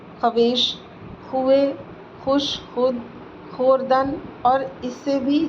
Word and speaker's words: خود: ساکت کے بارے میں۔ فارسی میں چند لفظ ایسے ہیں کہ ان میں واو ساکت ہوتی ہے، یعنی تلفظ میں ظاہر نہیں کی جاتی، اسے واو معدولہ کہتے ہیں، مگر یہ واو ہمیشہ خا کے بعد آتی ہے۔ ایسے لفظ بہت کم ہیں اور وہ یہ ہیں: خود، خویش، خوئے، خوش، خود،